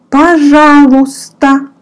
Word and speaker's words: пожалуйста: The answer to it will be пожалуйста. Пожалуйста. In this word, which seems long, you don't pronounce Y. Y. You don't pronounce it. You say пожалуйста.